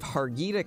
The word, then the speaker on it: Harghita: to go out to I believe Haggadah County is the way that you would pronounce this there's quite a few